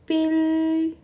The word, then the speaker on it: 필통: Kemudian kotak pensil. Bacanya piltong.